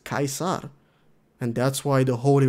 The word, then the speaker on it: Caesar: Apparently, it's because in the original, Latin, I guess, it's pronounced Caesar, and that's why the